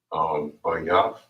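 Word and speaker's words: בית: House in Hebrew is pronounced as bayaf. Bayaf.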